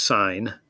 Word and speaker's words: sine: sine of angle a s i n that's pronounced sine by definition is the